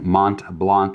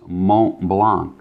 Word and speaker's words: Mont Blanc: which I guess the proper way of saying Mont Blanc is Mont Blanc, right?